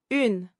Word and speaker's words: une: Now, they're pronouncing with an N at the end, but I think it's because before a vowel, you actually hear that consonant N, but before a consonant, you just hear like N.